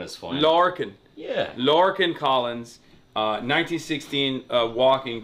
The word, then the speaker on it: Lorcan: No, I say Lorcan is fine. Lorcan.